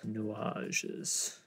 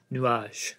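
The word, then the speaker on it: Nuages: called nages I'm terrible at French how to pronounce nages nuage got it so I took a lot of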